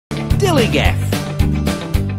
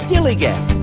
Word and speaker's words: DILLIGAF: Dilligaff. That's spelled D-I-L-L-I-G-A-F, Dilligaff.